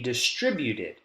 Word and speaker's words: distributed: Anything left behind will be distributed. Distributed. Distributed. Distributed. Distributed. Tre. This is your strong syllable in distributed.